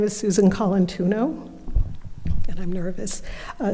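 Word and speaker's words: Colantuono: Okay, you're going to have to pronounce it. Yes, I will. My name is Susan Colantuno.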